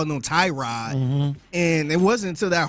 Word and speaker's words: Tyrod: to clarify that and he's like no it's Tyrod there's several Nam out what are we doing